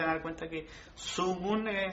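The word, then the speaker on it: zugun: De hecho, lo que están viendo en pantalla se van a dar cuenta que Sungun suena con la Z, U, G, U, N.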